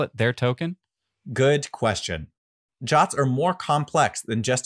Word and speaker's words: JWT: in Json web tokens known as jwt's pronounced jots these underpin every Firebase